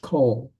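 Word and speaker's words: כֹּל: It's still pronounced kol. That looks like call, but it's still pronounced kol because that is the short O vowel, not the long A vowel.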